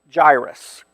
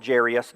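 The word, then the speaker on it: Jairus: is a story of a guy named gyrus all called jeras different pronunciation same same dude okay probably go back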